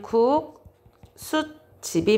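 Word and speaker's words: 국숫집: 소리로 발음을 쉽게 도와줍니다 그래서 발음은 국수집 이렇게 발음을 합니다 자이 사시 관형사 기능이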